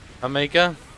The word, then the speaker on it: jamaica: in the drink jamaica pronounce the j with an h jamaica i have some peach